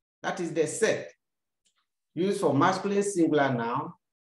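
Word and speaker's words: cette: a vowel or silent h that is the set used for masculine singular noun starting with a vowel or silent h and you say set why do you say set to have a look at it sex another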